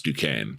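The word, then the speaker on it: Duquesne: of ball knowledge to not know how to pronounce Dukane right any any college basketball fan is how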